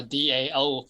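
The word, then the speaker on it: 道: of pronouncing is TE, I specify DAO for Dao, and others say TAO Dao, which is it's all same thing.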